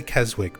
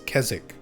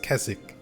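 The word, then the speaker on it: Keswick: I always say Kzwick. People actually from there always correct me and say it's it's Kzzik or Kez Kzzik. You don't really pronounce the W.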